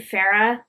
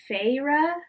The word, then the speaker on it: Feyre: at the part where i wanted to say her name farah like from teen mom if you've ever watched that but it's feyre but the way that when they say fast sounds like farah feyre fera she has went i